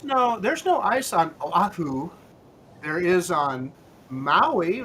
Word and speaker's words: Oahu: Because because every vowel is pronounced separately, right?